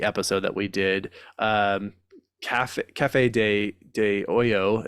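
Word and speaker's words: Café de Olla: that we did um Cafe De Oyo is how it's supposed to be pronounced or Osho uh depending on your dialect where you're from uh was a copy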